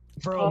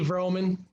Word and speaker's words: Vroman: Vroman. Oh. Roman with a V, Vroman.